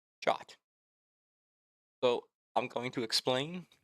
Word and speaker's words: JWT: In today's video, we are diving deep into the world of JWT or JSON web token commonly pronounced as Jot.